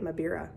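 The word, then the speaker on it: mbira: Or a thumb piano, or the original name was a mabira, that's how you say it, mabira.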